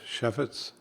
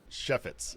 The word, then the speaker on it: Chefetz: Chef with an S, Chefetz. Chefetz.